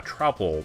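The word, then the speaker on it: Troupple: the trle trout yeah tropel this is kind of a weird word half trout and half Apple pronounced like mouthful he's one of the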